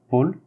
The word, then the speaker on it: Paul: Paul, AU, on le prononce par O. L, on le prononce bien, d'accord? Paul, Paul.